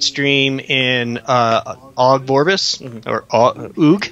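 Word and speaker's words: Ogg: in Og Vorbis, or Oog. How do you pronounce that? O-G-G. I assume it's Og. Yeah. O-G-G, Og. Og.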